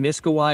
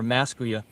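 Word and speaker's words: Miskawayh: Hakim Abu Ali ibn Miskawai or Maskuya, I've seen both pronunciations.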